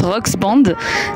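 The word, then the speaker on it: Rock's Band: l'avait rapidement évoqué mais c'est rock apostrophe s band en fait ça se prononce rox Band et rox bah ça fait comme le diminutif de Roxane donc c'est la bande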